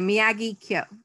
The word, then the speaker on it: Miyagikyo: the miyagi valley so if you're not sure how to say it remember the lovely old karate teacher and say miyagi kyo okay so ideally in japanese each syllable would be the same length but european people were rubbish at that so um you know do the best you can but you are ending